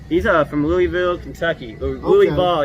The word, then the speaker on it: Louisville: uh from louisville kentucky louie ball you got to say it right man louisville kentucky okay